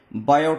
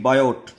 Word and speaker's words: Biot: बात करेंगे, डिस्कस करेंगे बायोट सेवर्ट्स लॉ के बारे में। बायो सेवर्ट्स लॉ, इसमें बोलते हैं BIOT, बायोट। इसको बायोट नहीं बोलेंगे, इसको बायो बोलेंगे, टी इसमें साइलेंट है बेटा।